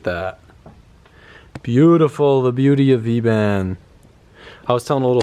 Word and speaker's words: V-band: No, V-band. Oh yeah. So it's a V and then band is with B, but the other place is a V because a clamp is a V.